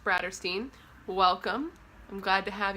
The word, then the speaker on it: Bratterstein: name is Brittany and my channel name is pronounced bratter Steen welcome I'm glad to have you here hopefully